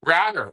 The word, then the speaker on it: Ratter: Henry Ratter, rhymes with ladder.